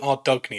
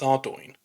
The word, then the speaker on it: Ardougne: how to pronounce it I called it our dougy until I was a grown man but it's not our dougy it's ouro and I'm here to